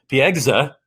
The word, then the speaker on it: Piegza: Our guest is Edward, let me look at it because I'll pronounce Piegza, Piegza, Piegza, who is the founder of Classic Journeys, based in Southern California.